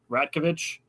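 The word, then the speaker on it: Rajaković: the Raptors coach, Darko Rajovic. Yeah. Basically, is close to how you say it. Ratkovic is how you say it, but I'll let you make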